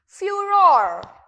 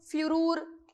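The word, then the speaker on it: furore: फ्यूरोर। नाउ इसे किस तरीके से प्रोनाउंस करना है? फरूर, फ्यूरूर नहीं, फ्यूरोर।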